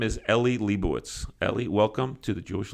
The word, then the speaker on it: Lebowicz: And his name is Eli Lebowicz. Eli, welcome to the Jewish Link. Thank you. Shkoyach on the pronunciation.